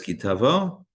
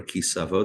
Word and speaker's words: Ki Tavo: Torah portion again is Ki Tavo or Ki Savo, depending on your preferred pronunciation.